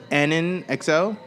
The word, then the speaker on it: AnnonXL: We're sitting here with AnnonXL. Yeah. People say it wrong all the time, right? AnnonXL. AnnonXL is not the way you say it.